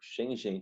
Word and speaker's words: Schengen: Vê que nome esquisito. Schengen, tá certo? Eu fui até conferir com outros professores de geografia e todo mundo pronuncia dessa forma mesmo, tá certo?